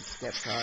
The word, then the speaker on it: Sceptile: I think I always pronounce it with a silent C. So I don't think it should be called Sceptile, I think it's Sceptile.